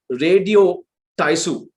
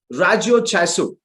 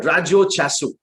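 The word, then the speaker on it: ラジオ体操: But then I've specifically underlined something called Radio Taisu. The right Japanese pronunciation is Rajo Chaisu. Okay, I learned the Japanese translation just to tell this word, Rajyo Chasu.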